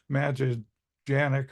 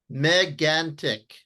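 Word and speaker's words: Mégantic: The CBC had people, I'm going to mispronounce the name of the observatory, Magellanic or something like that, but they had really good weather, and they had Megantic. Pardon me? Megantic.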